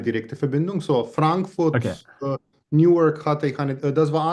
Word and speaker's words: Newark: Aber Wie spricht man das aus? Newark. Newark.